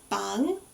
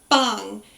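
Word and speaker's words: 방: pronunciation is very good our first character is going to be bang it's going to be a soft bee not um percussive like bang you don't want that sort of beat it's a very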